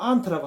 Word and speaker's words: aunt: 이렇게 요거 옛날에는 뭐 aunt라고 하는데 요새는 aunt라고 개미 ant처럼 발음을 하는데 that lady is your